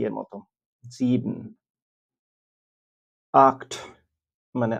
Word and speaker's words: sieben: এবং তারপর যদি একটা ভাওয়েল থাকে তাহলে তার উচ্চারণ ইংরেজি জি এর মতো হয়। এজন্য এখানে হচ্ছে sechs। sieben মানে ৭। আমি আবার বলছি sieben মানে ৭।